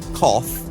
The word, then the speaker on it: cough: Lauren for your email cough rough and Slough where you are streaming from that's true cough see ough rough ro ug H Slough SL Oh ugh pretty much the same words aren't they with just different starting letters and yet coughed rough Slough they're nothing like they should be if you were to look at one and compare it to the other choose Lauren Drivetime with